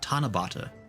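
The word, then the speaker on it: 七夕: That's right, Tanabata. I knew, like, it was like an unusual pronunciation for 7.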